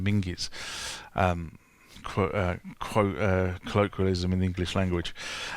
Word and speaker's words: Menzies: We used to have a newspaper chain in this country called John Menzies, and everyone calls it John Menzies, but I think it was actually properly pronounced as John Minges.